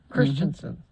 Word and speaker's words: Christiansen: Christiansen Christensen oh well it's spelled Christiansen is it okay yeah Christiansen yes it is c h r i s TI a n n uh so I've heard other people say Christensen but I'm going to say